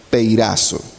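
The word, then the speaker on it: πειράζω: En griego se escribe o se pronuncia peirazo, que quiere decir tentar.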